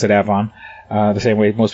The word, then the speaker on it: Avon: suburb called avon which most people would say avon but out here they pronounce it avon uh the same way most people say charlotte